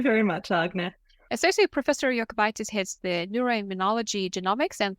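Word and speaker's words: Jokubaitis: are both proud lithuanians so the way I pronounced her surname is the correct way it's yokitis not jitis so welcome to this episode willia thank you very much agna associate professor yokitis heads the neuroimmunology genomics and prognostic group uh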